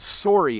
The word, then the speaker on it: sorry: So the word sore and the word sorry have the same O sound when we pronounce them in Canadian English.